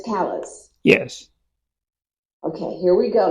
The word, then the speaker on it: Callies: Callies. Callies. Callies. Yeah. Okay. Great. Just going to make a note of that so I can pronounce it correctly. C-A-L-L. It's like C-A-L-L-E-Z, Callies.